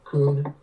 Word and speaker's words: Cunha: Just like you said, talking about a raccoon. Cunha.